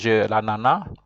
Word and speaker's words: ananas: You don't pronounce the end of it. There are people who pronounce it, but normally, you know, the S, you say l'ananas.